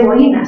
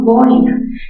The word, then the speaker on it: boina: O boina, no se dice boina, sino boina, grave terminada en vocal, tampoco se tilda.